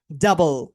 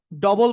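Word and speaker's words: double: word বলবেন প্রথমে বলেন ডাবল নট ডবল বুঝছেন তো ডবল বলা যাবে না কি বলতে হবে ডাবল ডাবল এন্ড এবার বলেন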